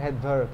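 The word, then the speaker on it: Svedberg: তো ওইটাকে বলা হয় ভ্যাদবার্গ, SVED, এভাবে উচ্চারণটা হয়, SV দিয়ে শুরু হয়, এসটা অনুজ্জ থাকে উচ্চারণে। ওইটা হচ্ছে গিয়ে এস মানে কি, ভ্যাদবার্গ।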